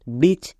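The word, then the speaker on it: bridge: জো তাহলে কি হলো ব্রিজ এখানেও ডি সাইলেন্ট কেন কারণ জি এর আগে ডি আছে তাই ডি সাইলেন্ট তাহলে এখান থেকে আমরা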